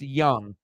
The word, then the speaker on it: Jung: not Josh Jung it's it's spelled j-u-n-g but it's pronounced Young you know a lot